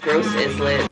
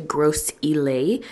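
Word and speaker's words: Gros Islet: like a whole strip of restaurants and malls gross is lit I stand corrected it's actually gross elay that's the correct pronunciation for it in St Lucia shout out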